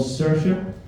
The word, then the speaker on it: Saoirse: My youngest daughter is called Saoirse. How do you think that's spelled? S-U-R, Sir, S-H-A, Sha. Makes sense, doesn't it? Nope.